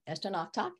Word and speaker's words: Estonoktok: to that name, but just put knock and talk at the end and put Esto in front. Estonoktok, that's how you pronounce it.